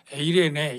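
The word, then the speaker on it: εἰρήνη: 평안의 의미는 오늘 본문에 나온 헬라어는 헬라어 에레네 이렇게 발음합니다 여러분이 잘 아는 샬롬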